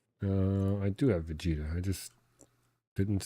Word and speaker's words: Vegeta: Uh I do have Vegeta. I just didn't spell it right. Yeah, I did V A G by accident. The eg like veggie Vegeta wants Vegeta.